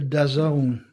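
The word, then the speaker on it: DAZN: the say I briefly touched upon it is pronounced a dazone or apparently the uh the chairman had a bit of a long long rant about Dazone.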